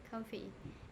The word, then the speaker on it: comfy: Instead of that, you use comfy. Is it comfy or Yeah. comfy? Comfy. So you get comfy. Comfy. Comfy. Stress on the first syllable, not comfy, but comfy. Comfy.